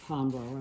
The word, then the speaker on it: Hanro: And Hanro, they pronounce it the Hanro of Switzerland.